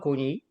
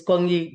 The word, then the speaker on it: NKONI: So the Facebook page is simply called KONI. KONI District of Columbia, Inc. There you go. And let us make sure we are spelling this KONI, because we are pronouncing it the way it should be pronounced, but how is it actually spelled?